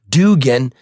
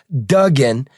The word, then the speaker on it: Dugen: people still called him Dugan when it was actually pronounced Dugen exactly the same pronunciation as Patrick J Dugen a federal court judge